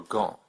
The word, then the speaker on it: gant: This is why you don't hear any P's, D's, or T's in loup, réchaud, or gant.